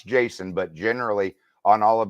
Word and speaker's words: Jasan: say that jokingly with my name jason with two a's i still pronounce jason but generally on all